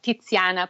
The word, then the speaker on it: Tiziana: So it's like Tiziana, pizza, pazza, piazza.